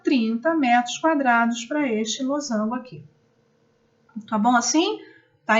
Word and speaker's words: losango: Muita gente fala errado, losangulo. Não, é losango, com S, inclusive, que se escreve.